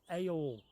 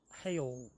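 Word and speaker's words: Haigh Hall: We're moored up between Bridge 61 and 60, near Hague Hall. That's how we say it, but the locals say Ayall or Hayall or something like that.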